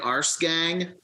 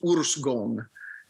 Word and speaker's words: Årsgång: It looks like Årsgång, which is also funny. But it's Årsgång.